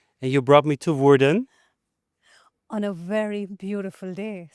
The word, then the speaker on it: Woerden: And today we are in, Woerden. Have I pronounced it correctly? I think so. This is my first time in Woerden, but I think you said it perfectly.